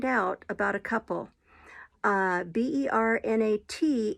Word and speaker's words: Bernat: about a couple uh b-e-r-n-a-t is bernat bernat that's how it's pronounced um c-a-r-o-n is carron